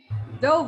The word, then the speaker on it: Dove: Dove, like the bird.